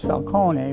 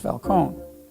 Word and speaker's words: Falcone: If it's in Italian, it's Falcone, but in English it would be pronounced Falcone.